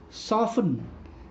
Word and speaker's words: soften: That they have a silent T. Silent T. Listen, soften, castle, often, which. Here the sound of T is silent.